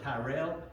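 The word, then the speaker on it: Tyrrell: And uh he uh came first, I guess it's pronounced uh is it Terrell or Tyrell County? We say Terrell.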